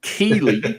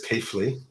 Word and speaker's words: Keely: the kegster um or as Google says Keithley yes well Google can get stuffed but anyway um well that's because that's because there's a town in the north of England called Keithley that's why and it's spelled exactly the same way so and Noah wasn't named